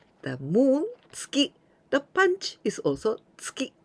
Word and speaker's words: 月: The moon, tsuki. The punch is also tsuki. And please be careful with the intonation.